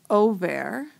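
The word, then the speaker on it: עֹבֵר: My participle is over. I have my O sound in it, my cholim in the middle. It rhymes with shomer.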